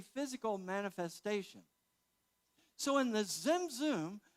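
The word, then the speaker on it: tzimtzum: And so what then occurred, and how would you pronounce T-Z-I-M, T-Z-U-M? Zimzum. One of my favorite Hebrew words, Zimzum.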